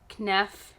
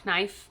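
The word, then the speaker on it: Kneipp: I really like the Knef, please tell me I said it right. No, Knife.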